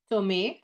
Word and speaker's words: Tomé: Tomé, accent on the E.